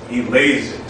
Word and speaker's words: Eleazer: I am Eleazer. Say that five times fast. It is unofficially the most mispronounced name in the entire English language.